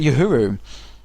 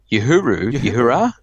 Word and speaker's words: Uhura: How do you pronounce that? Oh, is that Uhuru? Uhura?